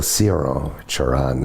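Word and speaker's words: Cioran: Uh, and Emil Siron Chan, as it would be pronounced in Romania, um, was a Romanian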